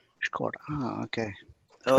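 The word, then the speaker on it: Škoda: It's pronounced with a sh.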